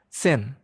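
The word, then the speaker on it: zehn: khusus kelas 1 Euro Sen. Z E HN S. Jadi huruf E-nya dipanjangkan sen itu untuk angka 10.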